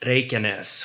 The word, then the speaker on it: Reykjanes: It's pronounced Reykjanes for anyone who is interested.